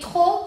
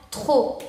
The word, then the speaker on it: trop: ¿Por qué trop? Porque quedamos que P final no se pronuncia. Entonces sería trop.